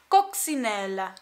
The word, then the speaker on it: Coccinelle: to say this oh it's a French brand coxinella from a brand named